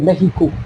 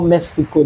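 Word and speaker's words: México: we were Mexico that's why they call it Mexico not Mexico the S is pronounced as H so it was fun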